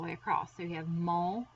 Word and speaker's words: mon: But in order to say my, there are 3 ways, and it is mon, or. That's how you pronounce them.